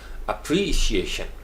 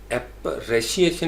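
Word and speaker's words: appreciation: अप्रीशिएशन, अप्री यानी एप्रेशिएशन नहीं है, PREE शी, प्रीशी, और EYA और SHUN एप्रिशिएशन, अप्रीशिएशन, अप्रीशिएशन, इस तरीके से प्रोनाउंस करें, अप्रीशिएशन, अप्रीशिएशन।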